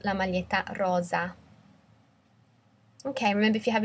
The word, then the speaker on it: rosa: the pink T-shirt Thea Rosa also notice the difference in pronunciation red is a double s so it's a soft s Mala Rosa whereas um pink is like a zed sound Lala Rosa okay remember if you